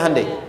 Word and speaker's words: Hyundai: Hyundai kan dibacanya Handay, iya kan?